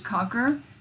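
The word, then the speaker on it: Konker: that I go to is concur that's how you pronounce it KO and keer dot IO and you're gonna get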